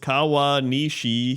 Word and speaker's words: Kawanishi: on the weather for kaan Nish hyogo Japan pronounced kawwa Nishi hiyo dude I said it